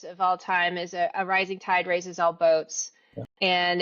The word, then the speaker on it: Rizing Tide: So, in Rising Tide, it's it's spelled r i z i n g.